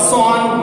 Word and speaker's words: Schwann: तो स्लाइडेन और सॉन ने क्या दी थी, सेल थ्योरी दी थी। और सेल थ्योरी में क्या क्या होगा, देखो सेल थ्योरी में सॉन की स्पेलिंग SCHWANN है, सॉन।